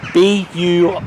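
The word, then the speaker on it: Burscough: now to pronounce it you actually say b-u-r-s-c-o that's all you gotta say to clouds berschow bridge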